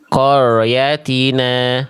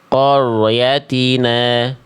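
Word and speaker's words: قَرْيَتِنَا: ee Bunda Musriati adalah huruf ron-nya getarannya tidak terasa ya. Jangan sampai samar. Getarannya harus jelas ya. Jadi kalau tadi Bunda Musriati baca begini. Nah, qoryatina harusnya dibaca jelas getarannya. Qor qoratina qorina. Jangan sampai qor qyatina.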